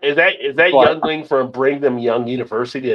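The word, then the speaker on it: Yuengling: it like somebody's going to take like a Yingling oh sorry I pronounced that wrong youngling and they're gonna go oh I ain't drinking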